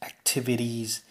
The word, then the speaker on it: activities: to this activities activities now this also happens in American English if there is a vowel sound before the t and a vowel sound after the T very often the T becomes a D sound so activities listen to